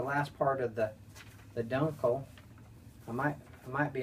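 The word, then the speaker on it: Dunkel: of the of the Dunkle which is actually pronounced Dunkle I think I mentioned that in the last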